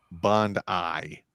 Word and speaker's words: Bondi: Also, it's pronounced Bondi. Bondi Park.